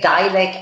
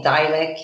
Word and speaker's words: Dilek: I got written down in front of me phonetically so I don't so yeah Divac I'm so useless you know when I was living in the United States many people would call me dialing I mean it's just understandable because I after